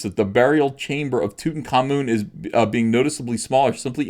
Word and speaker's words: Tutankhamun: Yeah, it's pronounced Tutankhamun.